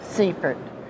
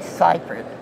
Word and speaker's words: Seifert: and he called himself Seaford but his name is really ciphered and he went to the Netherlands to school and he learned how to say his name anyway most important thing